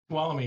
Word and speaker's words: Tuolumne: Tuolumne? Tuolumne, yes.